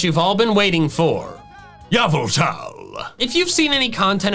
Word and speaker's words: Yveltal: refer to it as Yveltal. But I wanna be clear, for those who are not aware of the backstory behind this, I know that's not the correct pronunciation. The correct one is Yveltal.